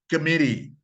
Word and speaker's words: committee: and very funny example of intonation the word committee committee which in Arabic and comedy comedy after the stress has switched from one syllable to another you can say community committee